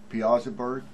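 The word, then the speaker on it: Piasa bird: bird yeah right okay we pronounce it piazza bird the yeah piazza bird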